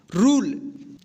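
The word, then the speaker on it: rule: देखिए क्या पढ़ेंगे इसको रूल, इसको रूले नहीं पढ़ेंगे, क्या पढ़ेंगे रूल, टी यू एन ई,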